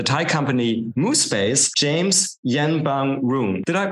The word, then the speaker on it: Yenbamroong: Our guest is the founder and CEO of the Thai company Moo Space, James Yenbamroong. Did I pronounce this halfway correctly, James?